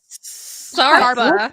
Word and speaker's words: Sarper: Sarpa.